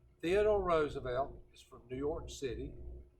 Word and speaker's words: Roosevelt: it's worth roads about did not pronounce this name Roosevelt you pronounced it Roosevelt Theodore Roosevelt alright guys